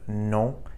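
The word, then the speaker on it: non: So we say no in English but no in French. So hear that faint N sound no at the end of the word.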